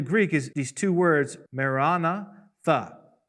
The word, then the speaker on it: maranatha: is these two words, maranatha. Usually in English we say maranatha, but in the Greek the accent is on the second syllable, pretty clear.